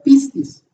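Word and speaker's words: πίστις: pongo en griego y entre paréntesis Cómo se pronuncia pistis que usted lo puede encontrar en el diccionario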